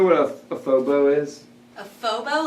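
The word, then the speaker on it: faux beaux: no idea what yeah how is it spelled like phone it's spelled like f a u x b e a u x s i would say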